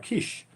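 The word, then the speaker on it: Kiss: It's not Kish, it's pronounced Kish. Kish.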